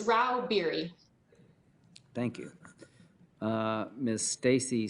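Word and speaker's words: Rauh-Bieri: how do you say your name ma'am it's rau berry thank you uh miss stacy staggs literal lobbyist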